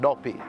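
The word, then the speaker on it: dopi: I think it's a Tree word, D-O-P-I, same pronunciation, Duppy, which means ghost.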